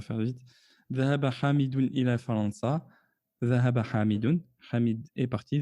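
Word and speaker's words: فرنسا: Donc on ne prononcera pas fi ila Faransa i. Ila Faransa. Bien qu'il y ait une kasra en réellement qui n'est pas visible. Mais on ne la prononcera pas.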